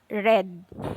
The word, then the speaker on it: read: spelling with reed but you pronounce this as red okay so red is